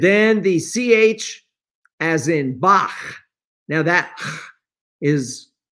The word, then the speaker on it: Bach: And that's why it says pronunciation, as in Bach, the real German pronunciation. We in English say Bach, but notice it's a CH and it's not botch.